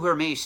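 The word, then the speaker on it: Hermès: she happened to sit near the CEO of her mace at that particular time now if you don't know who her mace is I can forgive you because they're a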